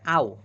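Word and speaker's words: あお: আচ্ছা তো এই আ আর এই ও দুইটা মিলে উচ্চারণ হবে আও।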